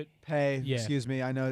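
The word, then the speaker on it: Paye: So I'm thinking Christian Darrisaw or Quiddy Pie. Pay. Yeah. Excuse me. I know it's a difficult pronunciation.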